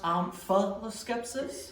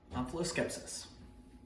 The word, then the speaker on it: Omphaloskepsis: Omphaloscepsis. Can that also be pronounced omphaloscepsis? It can. It would be wrong. Omphaloscepsis.